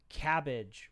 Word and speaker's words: CABG: uh a fun one cabg often pronounced as cabbage by cardiac surgeons it's a cardiac bypass